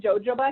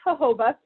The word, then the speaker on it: jojoba: it makes their skin feel they call it jojoba can you see I need some of the jojoba but it's pronounced jojoba and you have this jojoba serum it's not an oil I know it